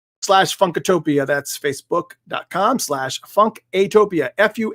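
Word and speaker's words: Funkatopia: fun to Tokyo and sometimes I pronounce it funky a topia because a lot of people don't know that there's an A in there and it's you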